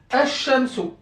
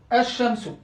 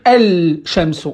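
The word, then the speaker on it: الشمس: Bien évidemment, attention, il s'écrit toujours, mais je ne dois pas le prononcer.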